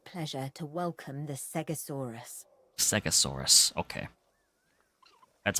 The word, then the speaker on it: Segisaurus: Segisaurus, okay. That's how it's pronounced.